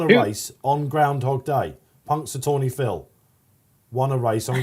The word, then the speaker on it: Punxsutawney: How do we pronounce the Ellison horse? Punxsutawney Phil. Do you know who Punxsutawney Phil is? Punxsutawney. That's it. Punxsutawney.